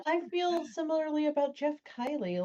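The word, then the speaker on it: Keighley: pronounce his last name I always thought I was like Keely it's Kylie as far as I know okay no I I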